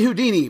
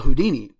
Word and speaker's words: Houdini: Harry Houdini please stand up all the contestants stand up